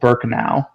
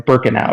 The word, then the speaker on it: Birkenau: a subunit of aitz called burkau or birkenau excuse me is how it's pronounced and and they almost